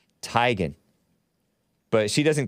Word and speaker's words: Teigen: married to chrissy legend chrissy teigen or tegan or tygan i think it's really supposed to be pronounced tygan but she doesn't correct